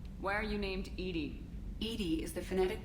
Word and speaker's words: EDI: a specific inquiry why are you named Edy Edy is the phonetic pronunciation of e di that is an acronym